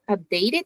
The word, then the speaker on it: updated: In that case it ends in t. So Mhm. Well, the last sound is a T. So Uhhuh. updated. We had the extra syllable.